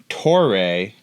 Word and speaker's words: Toray: It rhymes with the new premium Toray carbon fiber they're using in this thing.